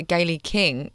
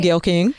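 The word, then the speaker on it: Gayle King: Well, she announced an exclusive interview with uh Gaye King. Am I pronouncing that right? Gail King.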